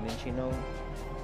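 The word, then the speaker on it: Minccino: I've heard it pronounced both ways. I kind of say it both as well. I say Mincino and Minchino. Riolu, one of the main Pokemon in Pokemon Journeys.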